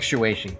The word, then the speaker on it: Shuichi: Well, it sounds like shueshi, so we'll see.